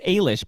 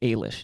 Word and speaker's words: Ailish: It's Ailish, by the way. Brian tells me it's Ailish is how you say that name.